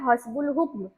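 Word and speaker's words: حسب الحکم: तो बे के साथ लाम यहां पर फिर से आ गया और हु और क और म अलीफ साइलेंट। ठीक है? हसबुल हुक्म।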